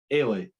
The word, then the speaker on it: Eilidh: Ailey. Ailey. Spelled Eilidh.